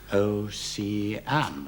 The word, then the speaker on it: ocean: Ocean, maybe ocean. That's right. So it looks like a 9-syllable line, which is unusual. And if we're to have 10 syllables, we have to make ocean 3 syllables.